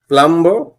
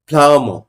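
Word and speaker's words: plumb: এসে কাজ করতে আসে প্লাম্ব no this is নট প্লাম্ব this is ফ্লাম ফ্লাম ফ্লাম বি উচ্চারিত হয় না তারপরে একটা শরীর স্বাস্থ্য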